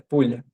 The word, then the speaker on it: poule: Inclusive galinha é pulha, né? Sem o T no final. E aí você vê que já muda a pronúncia, é pulha, né? Então, se não tem esse T no final fica com som diferente.